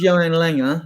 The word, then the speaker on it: Johan Lange: Go on, same as Johan Langer, as it's pronounced, and Chris Davies, the coach, and Scott Mann and Ange have had meetings apparently to discuss potential transfers.